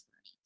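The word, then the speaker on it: Boerne: And yes, Bernie is how you pronounce that. I learned that the really hard way when I went home to my auntie, and I'm like, oh yeah, I had to go towards Bern, and she's like, Bern?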